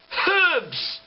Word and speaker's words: herbs: say oh it's horse do you know why they're called herbs because there's a h in it herbs herbs